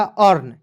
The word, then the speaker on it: earn: करेंगे क्या हो जाएगा अर्न ई ए आर एन अर्न हो जाएगा दोस्तों अर्न